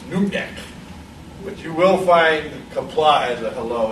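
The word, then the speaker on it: Qapla': But you will find kapla as a hello.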